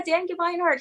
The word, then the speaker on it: Gemeinhart: us this is dan give me heart am i saying it right that's perfectly right exactly yes we talked